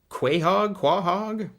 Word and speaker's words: Quahog: Quahog? That's how it's pronounced.